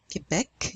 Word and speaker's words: Quebec: So, for example, the province or the city of Quebec in Canada, Quebec, you pronounce that C at the end.